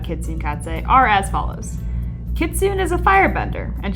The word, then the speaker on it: Kitsune: her first name is technically supposed to be pronounced Kitsune, but she was one of my early OC's